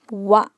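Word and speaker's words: は: Even though we write it as ha, for ha ha ha, there's a hole in the cake, we have to pronounce it as wa when it is used as a particle.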